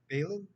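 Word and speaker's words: Baylan: Balin, is that how you say his name? Balin?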